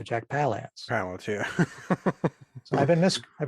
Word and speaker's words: Jack Palance: hyde with jack palance i don't know if jack belance's name is jack belan so jack palance yeah i've been this